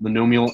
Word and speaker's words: monomial: Mon Amour factors yeah so that word is pronounced monomial and it means I